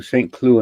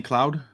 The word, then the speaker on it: Saint-Cloud: we're going to do st clue in france it's not saying cloud well yes you can